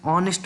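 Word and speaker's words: honest: भले ही यहाँ पर यच है, लेकिन जब हम इसका उच्चारण कर रहे, जब हम इसका प्रोनाउंसिएशन कर रहे, तब ऑनेस्ट ऐसा पढ़ रहे, तो ये ऐसी साउंड आ रही है जो कि वावल है, इसीलिए हम यहाँ पर प्लेस करेंगे एन।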